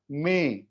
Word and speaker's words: mais: The next one is MAIS, जहां पर accent नहीं है. This is pronounced may.